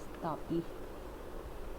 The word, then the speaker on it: तापी: अब हम बात करते हैं next one, that is तापी और ताप्ती, कुछ भी बोल सकते हैं, दोनों नाम से प्रोनाउंस होती है।